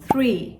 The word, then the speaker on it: three: 3 ağaç demek ama İngilizce'deki 3 three. Orada bir H harfi var.